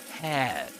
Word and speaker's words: hair: This would be typically pronounced as hair, as a diphthong, air, as the diphthong, air. But in this case, you get air. It's like an air sound, a long air sound.